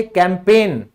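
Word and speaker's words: campaign: फिर होता है अभियान, जैसे कैंपेन, तो यहां भी ये साइलेंट है।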